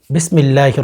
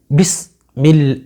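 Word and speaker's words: بسم الله: দেখেন স্ক্রিনে লক্ষ্য করেন বিস বিষ বলবেন না হ্যাঁ অনেকদেরকে দেখা যায় বিসমিল্লাহ বিসমিল্লাহির এই জায়গার মধ্যে বিসমিল্লাহ বলে এখানে সিন উচ্চারণ করেন এ কাজটি কখনো করবেন না নারী কিংবা পুরুষ সকলে সিন উচ্চারণ করবেন বিস বিষ বলবেন না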